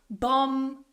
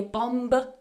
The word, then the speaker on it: bomb: Don't try and pronounce the B when you have that combination of M and B together. So for example, in the word bomb, climb, tomb, we don't say bomb, climb, tomb. The B is silent in all of these words.